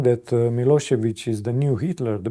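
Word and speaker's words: Milošević: putting him on trial in The Hague to pronounce his name, they all say Milosevic. And at one point his defense team made a point of this. Can you please at least get his name right, Milosevic?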